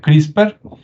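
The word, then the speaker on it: CRISPR: técnicas una que es crisper se escribe CR y spr y se pronuncia crisper Y usted puede investigar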